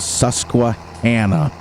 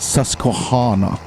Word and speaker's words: Susquehanna: I wanted to make sure that when Raznik watches this, it's pronounced Susquehanna, not Susquehanna.